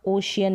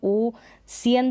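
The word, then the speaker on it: ocean: करेंगे, जैसे सोशियल और ओशियन में होता है। इसको हम ओ सियन तो कभी नहीं पढ़ते, ना ही ओ कियन पढ़ते हैं।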